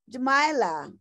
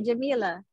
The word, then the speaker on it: Jamila: thank you and Chaplin Jamila did I say it right yes yes Jamila is that yes that's how you say Jamila it means the beauty